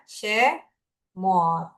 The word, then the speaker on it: שמות: Cara penulisannya untuk huruf Ibraninya adalah ada apa ini? Huruf apa? Shin ya. Dengan tanda nikutnya Shefah. Lalu huruf kedua apa? Mem. Lalu ada kolam dan ada taf ya, huruf taf. Jadi dibacanya Shemot.